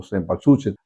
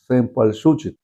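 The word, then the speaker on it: cempasúchil: hacen un caminito con la flor que aunque se aquí se escribe como sempatsuchen, realmente es sempal suchen.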